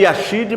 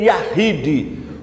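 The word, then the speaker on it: יחיד: Se escreve Yashid, mas se lê Yahid.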